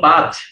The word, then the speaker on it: পাঁচ: কারণ চন্দ্রবিন্দু আছে তাই একই রকম ভাবে পাঁচ এর মধ্যে প ছিল আমাদের ঠোঁটের বর্ণ এই ঠোঁটের বর্ণ কেন আমরা নাক দিয়ে করেছি চন্দ্রবিন্দু ছিল তাই এই চন্দ্রবিন্দু অন্যকে নাকের